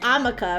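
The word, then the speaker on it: hamaca: And if it is Spanish for hammock, it's pronounced amaka, right? Not harma cuz the h is silent.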